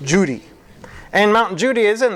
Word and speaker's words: Judi: It's spelled Kudi, but it's pronounced Judi.